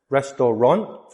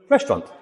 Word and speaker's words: restaurant: Restaurant. Restaurant. Three syllables. No. Restaurant. Restaurant.